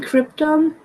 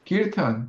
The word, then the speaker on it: kirtan: I you can guess doing, I guess doing cryptum. doing I don't know how you pronounce it. Is it cryptum? kirtan.